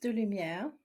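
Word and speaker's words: DeLumière: So it's pronounced DeLumiere, but I really don't want anyone to stress over how to pronounce my name. I think it's So, already, du Lumière.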